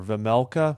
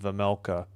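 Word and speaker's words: Vejmelka: And uh Vlmea or Vamela, I think the J is silent silent. Vamela for Utah, but the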